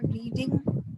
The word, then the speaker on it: read: तो past tense है, तो रीड का पास्ट टेंस जो होता है we pronounce it like रेड। कैसे प्रोनाउंस करते हैं? रेड।